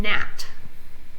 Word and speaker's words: gnat: So KN, the K is silent as in knit, and the G is silent, GN, as in gnat.